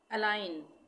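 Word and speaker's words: align: अलाइन, अलाइन में भी जी का उच्चारण नहीं हो रहा है।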